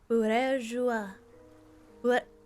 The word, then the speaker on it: Bourgeois: It's pronounced bourgeois.